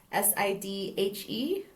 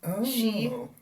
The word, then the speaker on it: sidhe: So, like the FA way of saying she, you would want to say Sidhe, but that's not how you say it. You say it she Yeah, like Irish.